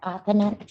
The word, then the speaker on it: Amman: is it amth am say exactly your name ma' Janette aaman aaman I that's exactly it's exactly how it's spelled anyway go ahead your